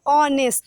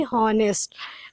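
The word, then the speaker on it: honest: बेटा एच लगा ज़रूरी है, यहाँ पे कॉन्सोनेंट है एच, बट इसका जो हम लोग जब इसको प्रोनाउंसिएशन करते हैं इस स्पेलिंग को, तो क्या होता है, ऑनेस्ट ना कि हॉनेस्ट।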